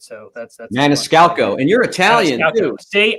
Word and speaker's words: Maniscalco: He had like one of my favorite comedians on there, Sebastian Maniscalco, and I can never pronounce his name right. So that's Maniscalco.